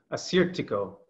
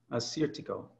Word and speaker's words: Assyrtiko: home alongside of me this is the anglicized version that hopefully will make it easier for you to work with this out in your market so the first one is the one everybody's heard of and that's a cedar Tico a suit to go Assyrtiko a suit to